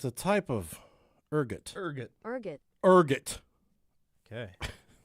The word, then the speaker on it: ergot: It's spelled ergot. It's a type of ergot. Ergot.